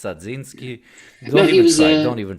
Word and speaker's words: Dzerzhinsky: Dzerzhinsky, even though I know him, I never knew how to pronounce his name right. Is it Dzerzhinsky?